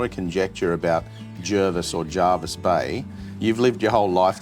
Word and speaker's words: Jervis Bay: the early 1900s where descendants of John Jervis had actually wrote and said, "Can you fix the name pronunciation, please?" Okay. Right, so if you're watching, it's Jervis Bay. Jervis Bay, I don't come.